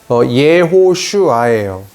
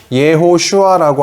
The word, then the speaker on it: 예호슈아: 그 여호수아는 이거를 히브리어인데, 구약 성경은 히브리어, 신약 성경은 헬라어로 써 있는데, 구약 성경의 여호수아의 이름을 발음해보면, 예호슈아예요. 여기서 예호슈아라고 써놨으면 더 좋았을 텐데, 그냥 여호수아라고 썼네요. 예호슈아라고 하는 게, 여호수아의 히브리어 이름이에요.